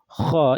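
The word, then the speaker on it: خ: Don't pronounce ha' like kaf. Kaf is ka ki ku. Kha is kha khi khu.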